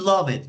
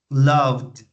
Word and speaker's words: loved: Remember, it's not love it because you are adding an extra syllable. Love. No tenemos que agregar una sílaba extra. Es con las mismas sílabas, solo que finalizamos con el sonido de D.